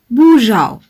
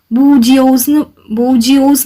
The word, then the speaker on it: bourgeois: How do we pronounce it bourgeois. പക്ഷെ English ഒരു phonetic language ആയിരുന്നെങ്കിൽ നമ്മൾ എങ്ങനെ പ്രൊനൗൺസ് ചെയ്യുമായിരുന്നു? അത് ബൂജിയോസ് എന്ന് പ്രൊനൗൺസ് ചെയ്യുമായിരുന്നു അല്ലേ?